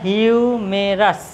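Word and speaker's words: humerus: উচ্চারণটা হিউমেরাস, ঠিক আছে?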